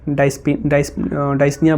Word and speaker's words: dyspnea: Okay, या फिर डाइस्निया बोल दो, डिस्निया बोल दो. आई थिंक डिस्निया बोलते हैं, पी इज साइलेंट हियर.